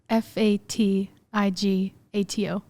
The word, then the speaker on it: Fatigato: with what's your last name spell it f-a-t-i-g-a-t-o fatigato it's italian is it yeah okay do